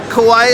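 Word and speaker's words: Kauai: do you say that say Kawaii is the island island is Kawaii the state is Hawaii yeah yeah Hawaii yeah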